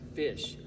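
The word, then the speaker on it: Phish: but they're different they spelled us p-h-i-s-h but pronounce it fish um ph in this instance sounds like so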